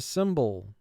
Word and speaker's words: cymbal: I heard someone strike the cymbal. Cymbal. Now for spelling, let's pronounce it cymbal. First syllable is sim, three sounds. S, I, m. Ball, three sounds. B, aw, ul.